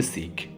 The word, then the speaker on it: শিখ: শিখ নামে প্রচলিত হলেও এই শব্দটির সঠিক উচ্চারণ হবে শিখ।